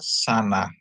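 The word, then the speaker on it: שנה: Terus ada sin dikasih kamat, nun dikasih kamat. Dia bacanya syin dikasih kamat sa, nun dikasih kamat na. Jadi tambah he jadi bacanya sana.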